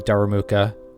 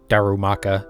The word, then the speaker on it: Darumaka: have seen the shiny daramuka or Darumaka Jesus I don't know why I say it wrong every time but more